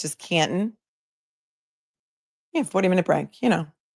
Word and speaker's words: Canton: Canton, you don't pronounce the T. It's just Canton.